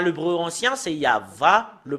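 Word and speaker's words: יהוה: mais si nous revenons à l'hébreu ancien c'est yava le prononce la prononciation et si nous voyons euh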